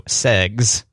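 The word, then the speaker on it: seggs: Instead of sex, it's spelled S-E-G-G-S, so segs.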